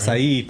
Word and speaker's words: Açaí: It is spelled like Wilshire. I know. Yeah. I know. English, man. English language, terrible. All right, Açaí, por favor.